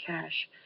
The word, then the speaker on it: cache: out okay cash now notice this has the E on the end it's still pronounced cash but it refers to